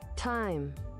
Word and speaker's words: thyme: Also, while we're here, thyme, is it? Time. Yep, you are right. I'm going to continue to mispronounce it because I like being ignorant. It is... No. I'm going to keep pronouncing it thyme because I like being stupid in this case.